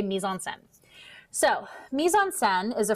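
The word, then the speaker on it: mise-en-scène: this a concept of misonsen so that is how you pronounce this say it out loud mison sen it is not maison scene it is not meis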